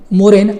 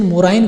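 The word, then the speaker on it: moraine: आपके सामने आए मोरेन, आप सोचो कि नई बात है, नहीं, मैंने थोड़ा उसका प्रोनाउंसिएशन मोराइन कर दिया था। मोरेन भी बोलते हैं, मोराइन, दोनों ही सही है।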